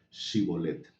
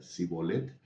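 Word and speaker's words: שִׁבֹּלֶת: Si él respondía, "No, entonces la clave era pedirle que pronunciaran la palabra chibolet." Sí. Y si el eh efraimita o efrateo sí no pronunciaba correctamente y decía sibolet, sí, estos lo mataban,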